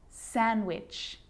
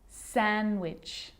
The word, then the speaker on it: sandwich: silent too wednesday handsome sandwich so i'm not pronouncing the d in san sanjuich i'm just pronouncing the consonant n sound before it try it with me one more time wednesday handsome sandwich and a d can